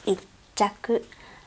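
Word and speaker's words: 一着: So again, the pronunciation, we have a small tsu. Please put a space in between when you pronounce it. Ichaku, hachaku, juchaku. Okay.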